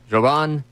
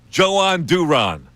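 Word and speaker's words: Jhoan Duran: In a spa, in the Spanish language, the J is not pronounced Joe. It's Johan. But this uh this guide says it could be Joan. Joan Duron. Joan Duron. Joan Duran.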